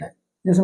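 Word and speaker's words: whose: अब यहाँ पे क्या है, ये तीन वर्ड हु, हुज, हुम, इन तीनों वर्ड्स में क्या है, W साइलेंट है। जैसे मैंने आपको बताया था, अगर आप स्टार्टिंग का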